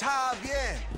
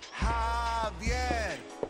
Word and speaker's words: Javier: It's Javier. It's pronounced like an H. Javier.